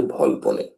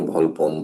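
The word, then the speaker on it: Volpone: নাটকটির নাম হচ্ছে ভলপনে। ভলপনে। অনেকে ভলপন ভলপনি ইত্যাদি ইত্যাদি বলে। সঠিক উচ্চারণটা হবে ভলপনে।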